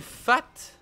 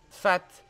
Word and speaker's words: fat: Jeune fat. Ou jeune fa, c'est quoi un fa? Fat. Qui montre sa prétention de façon déplaisante, un peu ridicule. Adjectif masculin, un fat. Ça se prononce comment? Fat.